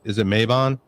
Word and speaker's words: Mabon: And is it Mabon? Yeah. I got that right. Well, that's two. All right. Doing good. Mabon, Litha, Lunasa.